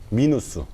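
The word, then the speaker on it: минус: 러시아 식으로 발음을 해야 되기 때문에 플러스 마이너스를 플루스 미누스 이렇게 발음한 돼.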